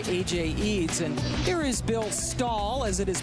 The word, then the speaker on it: Bill Stull: And here is Bill Stull, as it is pronounced, went to Seton LaSalle High School.